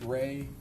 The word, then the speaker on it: Rey: There's also a visual spatial ability test and I'm going to have you explain or pronounce that for us. The rey test. Ray, the Ray Ostrich complex figure test.